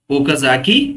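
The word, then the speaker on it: Okazaki: And each fragment is called, क्या बोलते हैं ओकाजाकी fragments. Yes, each fragment is called ओकाजाकी fragments. Fragment spelling वो के ए जेड ए के आई ओकाजाकी वो के ए जेड ए के आई ओकाजाकी फ्रैगमेंट्स.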